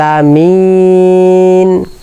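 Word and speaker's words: العالمين: রব্বিল রব্বিল রব্বিল আল আলামিন আলামিন আমরা অনেকে মুরুব্বি যারা আছি বয়স্ক তারা বলে আলামিন আলামিন আলামিন হবে না হামজা হবে না এখানে আইন আলামিন আলামিন আলহামদুলিল্লাহি রাব্বিল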